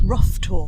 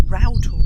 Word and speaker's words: Rough Tor: looks like it's pronounced rough tour because it's r-o-u-g-h but one of our Builders told us once that no it's not rough tour it's router if you're a local tour um it's not